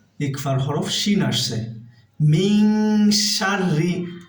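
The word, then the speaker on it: شَرِّ: মিন শাররি, আর রটা এখানে আমরা পাতলা করে পড়বো, অর্থাৎ বারিক করে পড়বো, কারণ রয়ে মুসাদ্দাদ নিচে জের আছে।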